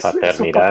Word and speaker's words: paternidad: How you say it? Es su Paternidad. papá. Yeah, paternidad. There you go.